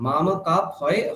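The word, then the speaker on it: मामकाः: মা মা কাফ পাণ্ডবাশ্চৈবা। হ্যাঁ বলুন আবার।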